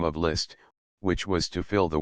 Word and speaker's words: Liszt: rishu where does Mr list live I asked and pronounced it litz for the parisians have never got any further with the name of list than litz the address of list